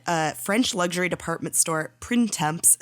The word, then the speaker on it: Printemps: So, like I said, uh, French luxury department store, PrintMemps. Susie, can you do the French pronunciation for us? Sure. It's Prento. Let's pretend I said it that way.